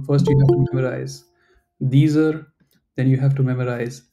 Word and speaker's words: dieser: To be honest, I will not pronounce this as dieser. I'll just say dieser. I'll pronounce this one also the same as way as I'm pronouncing this one, because at least in the city where I live, when there is a word in German ending with R, we don't emphasize that specific alphabet, that R alphabet at the end of a word.